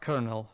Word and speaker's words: colonel: yeah well it's pronounced Colonel to the Ellis Island yeah the L is pronounced like an R on that one oh yeah yeah technically